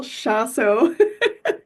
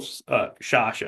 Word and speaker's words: Shasho: So if It's you don't mind introducing yourself for me, I am Nicole Shasso. Nicole Shasho. There Yes, we go. Because I almost just called you Nicole Picasso because it rhymes with Picasso.